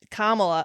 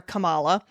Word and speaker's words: Kamala: well you know and Kamala I'm sorry they usually mispronounce her name they they call her Cala or they call her